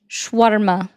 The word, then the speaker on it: shawarma: So it would be shawarma. Shawarma. I try not to roll my R's because it does have like a, just so you know.